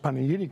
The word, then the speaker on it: Panegyri: First of all, we really appreciate being here and um the fact that you pronounced Paneidi correctly.